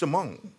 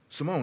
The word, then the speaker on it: Shimon: he used this this word it's actually uh pronounced shimone shimone it's a Hebrew name but Peter was the